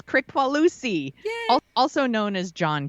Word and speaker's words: Kricfalusi: So our creep this week is John Kricfalusi. I looked it up. I listened to videos to get the name correct. Y'all, I did my homework. I totally researched how to pronounce his name. It's Kricfalusi, also known as John K.